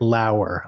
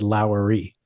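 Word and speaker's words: Lower: complain about it so it's Brit laer I'm sorry I said lowy but any L someone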